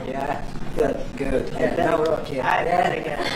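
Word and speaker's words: Nawrocki: Gave me a little different pronunciation. I said, I want to get it perfect. Did I get it right? Yeah, good. Nauraki.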